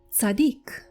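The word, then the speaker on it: צדיק: So he was called Sadik.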